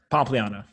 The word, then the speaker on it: Pompliano: Pompiano. Is that the right way to say it? Close enough. Yeah. No, no, no. Say it how you would say it. Pompliana. Pompliana.